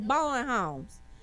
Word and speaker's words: Bowen: Homes, really, you do not pronounce the W. It's Bowen Homes. No W.